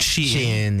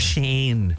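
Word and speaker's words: Shein: Sheen Forever 21. Oh, is that how you say it? Sheen. Yeah, I thought it was Shane.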